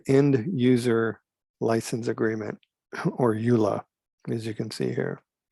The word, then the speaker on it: EULA: so whenever you there's something called a eula that's how it's pronounced it's called the end user license agreement or ula as you can see here so you and